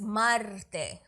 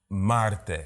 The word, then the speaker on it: Marte: You gotta roll the R's though. It's Marte. I'm Dominican. Marte.